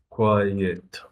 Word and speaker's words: quiet: in the middle Qui quiet yeah you have to separate those two sounds otherwise it sounds like number one number one quiet number